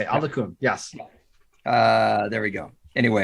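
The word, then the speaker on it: Oluokun: Folson Alokun. Alokun. That's how you say it. Alokun.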